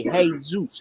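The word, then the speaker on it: Jesús: then oh very cool is that j pronounced like a h as wrong yes yes spanish it's elizabeth rojas it's like it's like it's like jesus in spanish is jesus hey hey zeus hey and michael is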